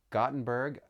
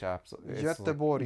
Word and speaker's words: Göteborg: We went to Gothenburg, and I know I mispronounce it, but that you pronounce it differently in Swedish. Göteborg.